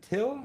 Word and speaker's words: Till: We have Franchesco and if I pronounce this correct is it Till? Is that correct?